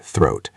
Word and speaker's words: throat: Let's focus on that word throat. Make sure you use the th sound at the beginning.